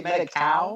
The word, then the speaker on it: Medi-Cal: Did you say Medi-Cal? Yeah, they call it Medi-Cal, even though it's spelled just like medical, but it's capitalized.